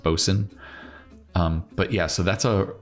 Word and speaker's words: boatswain: It looks like boatswain, but I think it's still pronounced bosun.